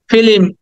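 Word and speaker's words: film: And 59 ফিল্ম, এটা আমরা অনেকে বলি ফিল্ম, অনেকে বলি ফিল্ম, বাট ইটস ফিল্ম। লটা উচ্চারণ করতে হবে সামান্য করে, ফিল্ম, ফিল্ম।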